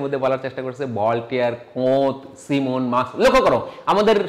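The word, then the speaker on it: Comte: সময় মনে রাখার স্বার্থে আমি অগাস্তি কমতি বলে থাকি, কিন্তু আসলে কোতে উচ্চারণ অনেকে বলে থাকে, কোত।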